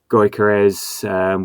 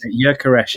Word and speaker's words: Gyökeres: So the fact that we did sign a player was the news around Gyökeres.